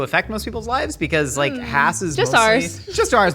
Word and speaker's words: Hass: Hass avocados started in Irvine, California, and it is pronounced "Hass," not "Haas."